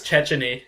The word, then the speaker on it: Cecchini: And so, other than Garen Cecchini, who if that's how you actually pronounce the guy's name. No, I mean, I think it's Checheny. That's what they have on the pronunciation guide, but like, I'm still